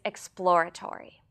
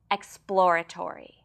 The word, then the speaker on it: exploratory: Today's word is exploratory. This word is difficult to pronounce because it consists of a plosive p sound immediately followed by l and r sounds.